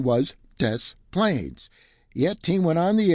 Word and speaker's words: Des Plaines: Since I'm from Chicago, I told him the right pronunciation was Des Plaines.